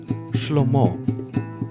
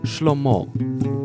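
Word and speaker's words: שלמה: pokonał dawid i goliat okolic salomon syn dawida szlomo szlomo jerozolima nie rusza na im już alarm już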